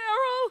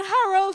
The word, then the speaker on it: Errol: you although she said Harold she said mom my supervisor who visit from the states he didn't know how to pronounce arol so he calls me Harold he calls me Harold